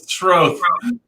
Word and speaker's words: Schroth: No, it's Schroth.